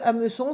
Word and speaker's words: hameçon: Le mot hameçon, il a un H muet. Et puis, alors là, ça va pas parce qu'il ne devrait pas me laisser un espace. Voilà. Il a un H muet. Ensuite, on entend A, M, E, me. Le S de hameçon, c'est le S de leçon, c'est un C cédille. Et ensuite, on entend on.